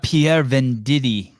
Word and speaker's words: Pierre Venditti: Pierre Venditti, which rhymes with titty.